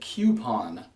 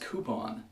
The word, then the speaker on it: coupon: me coupon Not coupon there is no Q in this word it's c u it's